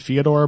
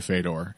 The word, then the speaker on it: Fedor: It is technically pronounced Fyodor, but we all say Fedor. It's too embedded now to stop.